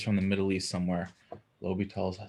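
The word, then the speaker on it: L'Hôpital: famous mathematician um again you pronounce that name i've always heard it low be tall and he's got this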